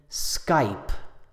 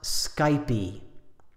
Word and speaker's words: Skype: Skype is only one syllable. There's no E sound on the end. So say Skype, not Skypey. In American English, we say Nike.